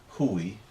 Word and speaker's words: chuaigh: Chuaigh, or huame. You don't always hear that ending, but if you do, it's E. Chuaigh, or huame.